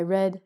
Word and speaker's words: read: So tomorrow I can tell you I read a red book and I blew a blue thing.